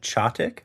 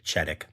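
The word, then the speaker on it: Chetek: I am wildly appreciative of that, Kim, because I 1000% would have said Cheddick. Cheddick, like cheddar. I don't know. Anyway, but in Chottick, Wisconsin, police deputies had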